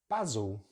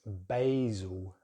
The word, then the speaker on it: basil: Next word, basil, basil, basil. American English uses a slightly different vowel sound. They use the A diphthong, so it's basil, basil. But we're going to use a short vowel sound, the same vowel sound we find in the word cat. So it's that ah sound. So baz, basil.